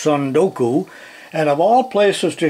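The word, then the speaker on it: 積ん読: I guess it's pronounced Sundoku.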